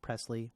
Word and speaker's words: Presley: So, Presley, thanks for coming in, and it is Presley, right?